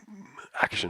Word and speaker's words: action: How do you pronounce it when you say action? Action. The T is writing the SH, which most people haven't seen.